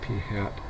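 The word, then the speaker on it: p̂: by the way um sample proportions are represented by P with a a hat on top and it's usually pronounced P hat um the three six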